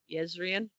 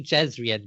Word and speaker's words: Jezrien: Yezrian. Yes, Rian. Okay. I say Yezrian, but technically it should be Jezrian because this is before Vorin linguistics happened.